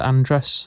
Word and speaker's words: Andress: No, the first James Bond film, Ursula Andress. I don't know. Andreas. That's how you pronounce her surname.